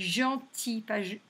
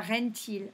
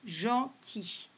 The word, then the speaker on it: gentil: Donc je rappelle qu'un G et un E, ça fait le son J. Donc là, ça se dit gentil, pas rentil, gentil.